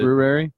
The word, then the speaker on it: February: February. Yeah. It's got that R in there.